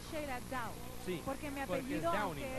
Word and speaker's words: Sheyla Dow: Ok, se pronuncia Sheila Down. Sí. Porque mi apellido, aunque es D-O-W, sí, se escribe D-O-W-N-I-N-G, pero se pronuncia Downing. Entonces es okay. Sheila Down. Y yo te dije Sheila Doe porque como low, ¿verdad?